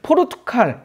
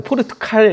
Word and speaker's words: 포르투갈: 포르투갈 우리가 포르투갈이죠. 저는 이제 그 발음이 세 가지고 포르투칼 이렇게 말을 말 하는데 원래 포르투갈입니다.